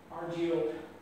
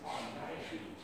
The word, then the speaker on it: Argiope: Incidentally, a lot of people pronounce it argio. The accepted pronunciation is argio.